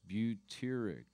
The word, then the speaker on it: butyric: I'm trying to find if you can pronounce that with beauty in it. It's butyric.